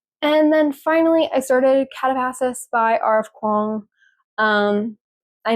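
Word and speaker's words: Katabasis: And then finally, I started Catapassis by RF Kuang. Um, I know there's some controversy on how to pronounce it, but the author says you can say it like that, so I'm going to say it like that.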